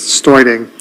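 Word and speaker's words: Steuding: David Studing, actually I believe he pronounces Stoiding, S-T-E-U-D-I-N-G.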